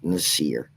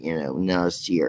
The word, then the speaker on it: Nasir: think it is, but how you say my name is Nasir. So maybe one day some of them will hear it, Nasir. It's kind of like it says, but still.